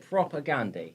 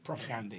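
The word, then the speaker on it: Propagandhi: been saying it wrong is it proper Gandhi propaganda yeah yeah like Mahatma Gandhi but prior rocket like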